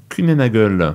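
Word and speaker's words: Kuehne + Nagel: connecté qn plus Nagel on prononce ça comment Q Nagle Q Nagle ok en ang grand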